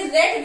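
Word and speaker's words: Rett: उसके बाद कह रहे हैं दोस्तों रेट डिसऑर्डर। रेट डिसऑर्डर क्या है दोस्तों? इसे रेट भी बोलते हैं, कुछ लोग रिट से भी इसका प्रोनाउंसिएशन बनाते हैं, लेकिन हम ज्यादातर इसको रेट यूज करते हैं।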